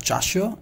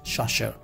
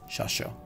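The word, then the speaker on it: chasseur: madida then we have shasher this is not chasho it's sasha it spells like experience like sha let's see it sasha clear the pronunciation of this one is shasha let's play with this these are the expandable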